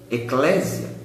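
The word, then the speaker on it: ἐκκλησία: A própria palavra igreja, no grego é eglesia, a gente pronuncia aportuguesando eclésia.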